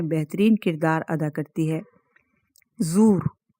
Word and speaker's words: زور: کردار ادا کرتی ہے۔ زور، یہاں پہ اس کا ہم تلفظ کر دیں اور توڑ کے بتائیں الفاظ کے زے پیش، زو، واو اور را کے اوپر زبر۔ زور، زورا کے معنی